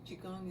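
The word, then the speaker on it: qigong: so I often recommend chigong to people uh chigong is spelled Qi and then gong g n g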